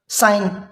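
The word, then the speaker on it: sign: वो एन से पहले हैं तो हमने इसको साइलेंट बोला, साइन।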